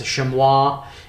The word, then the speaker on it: chamois: got this chamois here the Shanta chamois is is spelled CH am oh is shim wah if you will we just say it's chamois around where I'm at and it is that